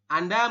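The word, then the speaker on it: 앉: hanya an seperti ini kenapa yang zetnya dihilangkan karena memang aturannya seperti itu huruf terakhir tidak dibaca jika ada empat huruf seperti ini Oke tulisannya Anet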